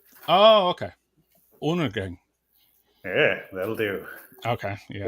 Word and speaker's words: Undergang: But if you want to say it in Danish, then the D in the first part is more like an extra N. So we say Undergang. Oh, okay. Undergang.